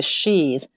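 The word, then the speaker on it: síd: was referred to as the realm of the sheath and that's spelled s i with an accent d sheath and the pagan gods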